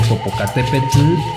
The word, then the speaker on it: Popocatépetl: y mi eterna la terminación de él esta no suena como la gran mayoría la pronuncia y si la pronuncia es así no te preocupes mientras hablas como se pronuncia realmente atención que es un poco elaborado tienes que poner la lengua como si la fueras a pronunciar de forma normal pero quita el sonido de la l y sólo deja pasar aire entonces así cambia de